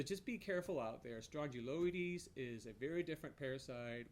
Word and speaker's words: Strongyloides: confusing that it's called Strongyloides it almost sounds like it's a strong jaw parasite it rhymes with it the first syllables of that word is identical but